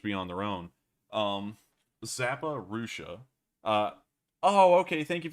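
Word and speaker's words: Zaporizhzhia: they'd pretty much be on their own um zappa russia uh oh okay thank you very much for uh clearing up how to pronounce that we'll call that zapparusha from now on um bmp3 looks huge it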